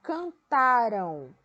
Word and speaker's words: cantaram: Então, aí, vamos observar: cantaram o boato por toda parte. Então, esse verbo está em quê? No passado. Qual é a sílaba tônica dele? É o tá.